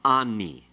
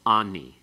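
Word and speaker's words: אָנִי: Therefore, it's going to be changed, and it's going to become ani. Okay? It's heightened to a qamets in pause. It becomes ani.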